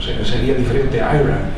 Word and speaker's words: Era: O sea, sería diferente a Ira y tal. Y pues, al casarse con Kedley, entonces ella optó por poner E-R-A, que de alguna manera disimulaba, pero también se pronunciaba Ira, en inglés.